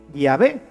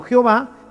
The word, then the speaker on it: Yahvé: Y por eso nosotros sabemos que la pronunciación correcta de Yahvé es así, Yahvé, y no Jehová, que es simplemente una literación.